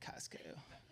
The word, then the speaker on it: Costco: Costco. Yeah, the T is silent.